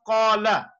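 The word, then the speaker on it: قَالَ: For example, you have qala, qala. The word qala means he said. The word qala, so if you stretch it, like even that much, that qala, it means they said.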